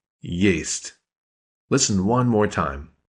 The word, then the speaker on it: Есть: If I were to sound that out using English letters, I'd spell it Y-A-Y-S-T. Yeast. Listen one more time. Есть.